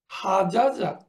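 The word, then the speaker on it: حجّ: মারারা আমরা উচ্চারণ করব মাররা। শামামা, শাম্মা। হাজাজা, হাজ্জা, তার অর্থ হচ্ছে, হাজ্জা আমরা সবাই জানি to perform Hodge, Shamma two smell, মাররা two pass, মাদ্দা টু এক্সটেন্ড।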